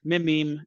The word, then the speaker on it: meme: the French word me it should be pronounced to rhyme with cream I just want to